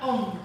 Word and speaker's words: Om: It should be pronounced like the long O in the Italian or common American manner, as in home and bone.